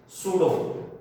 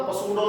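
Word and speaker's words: pseudo: सूडो, P silent होगा, पसूडो नहीं, ये सूडो है, सूडो ऑर्डर रिएक्शंस।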